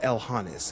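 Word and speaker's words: Elhonis: Uh, Elhanes.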